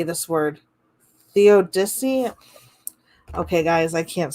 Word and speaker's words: theodicy: a word if i don't wanna say it theodicy theodicy okay the odyssey godfrey lebman has invented